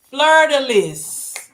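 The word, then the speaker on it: fleur-de-lis: Fleur de lis. Yeah, we don't do those. Of course, those cosmetics, so we didn't do those. But yeah, remember it is pronounced Lee.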